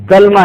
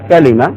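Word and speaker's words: كلمة: کہا جاتا ہے کلمہ۔ کلمہ نہیں، اس کا تلفظ کیا ہے؟ کلمہ۔ ضرب اللہ مثلا کلمۃ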